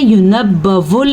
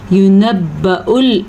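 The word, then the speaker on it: يُنَبَّأُ: बाज़ लोग इसको पढ़ते हैं युनब्बउल इंसाना। भाई वाव के ऊपर पेश नहीं है जबकि हमज़ा के ऊपर पेश है, तो हमज़ा ही पढ़ेंगे, वाव नहीं पढ़ेंगे। वाव तब पढ़ी जाती अगर हमज़ा ना होता, तो हम इसे क्या पढ़ेंगे? युनब्बउल इंसानु।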